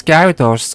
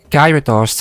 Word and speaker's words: Gyarados: He likes Gyarados, or Gyarados, however you want to pronounce it, but he doesn't like Magikarp.